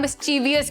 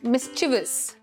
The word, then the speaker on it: mischievous: People generally pronounce it as mischievous. और अगर mischievous की तरह pronounce करेंगे जो incorrect है, शायद आप यहाँ पर I भी डाल देंगे spellings में.